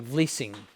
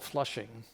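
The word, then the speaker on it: Vlissingen: a Dutch town called, it looks like Vlissing. It's on the coast of Holland. And the English couldn't pronounce that, so they call it Flushing. So the Dutch, when the Dutch had it, it was Vlissing, but then the English changed it to Flushing.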